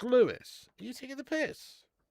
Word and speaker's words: Lewes: What, Lewes is pronounced Lewis?